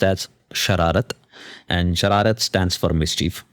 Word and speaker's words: Shararat: Of course, very first thing the name is pronounced as Sharat and Sharat stands for mischief and that was the idea that uh because Chad Gypty was always too agreeable.